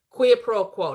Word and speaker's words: quid pro quo: Quid pro quo.